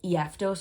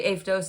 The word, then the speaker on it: Aphtos: I know it looks like this is said like Ephtos or something like that, but it's actually Aphtos. It's a Greek word.